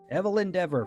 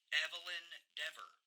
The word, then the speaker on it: Evelyn Deavor: Evelyn Deavor. What does that sound like? Evelyn Deavor. Hm, perhaps evil endeavor?